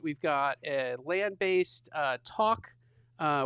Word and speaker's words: Tauck: We've got a landbased uh talk uh which is not talk t a l k that is talk I can't I don't know if I pronounce it correctly.